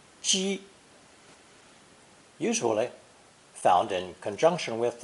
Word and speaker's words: 几: The second pronunciation of this character is first tone ji, usually found in conjunction with a pictogram showing breath rising in the throat and being expelled forcefully.